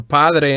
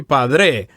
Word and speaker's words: padre: that we learn here Padre and Madre the accents go in the first syllables as opposed to the last syllables don't say padre or madre no padre